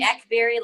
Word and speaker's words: Akbari: Senator Raumesh Akbari joins us now. First of all, Senator, am I pronouncing your name correctly? It's actually Akbari, like Blackberry, but you really?